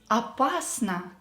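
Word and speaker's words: опасно: number five is apasa apasana dangerously the same rule we will apply here o not stressed so we will pronounce it as r and example it is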